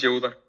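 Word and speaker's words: Yehuda: Y Jehjuda o yeuda, no sé cómo se pronuncie. Una disculpa porque no sé pronunciarlo, pero bueno, si me ayudas este así normal, nada más. Yuda. Yuda. S.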